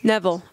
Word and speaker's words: Nevill: listening narrated by Bridget Thomas 's end credits Neville okay I was saying it wrong a review